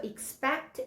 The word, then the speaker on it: expect: 그래서 expect, expected, 아니면 expecting 하면서 다양한 형태로 나오는데 뭐가 됐건 PEC의 강세를 팍 줘야 된다라는 거를 잘 기억을 하시면 좋을 것 같아요.